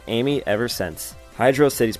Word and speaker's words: Hydrocity: dropped and has been called amy ever since hydro city's pronunciation it's been a debate among fans to how to pronounce the name hydro city i used to say hydrosity but it is in fact hydrocity zone two